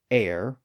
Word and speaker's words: heir: stragglers where the H remained silent like honor honest our h o Ur air h e i r and at least in American English the word herb but that's about it otherwise